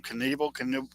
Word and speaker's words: Knievel: Knievel? Evil Knievel, yes. ROCK. The K is silent.